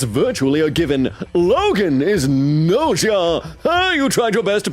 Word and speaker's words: Gnosia: Logan is Gnosia.